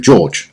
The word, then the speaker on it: Jorge: So, we're going to have a look at the champion, Jorge. I believe that's how it's pronounced. I think it's a Spanish name. Most people, however, will call him George, and he is the new Epic Defender that's coming out.